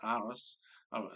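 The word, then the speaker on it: Arras: And when he says aris that's spelled a r r a s.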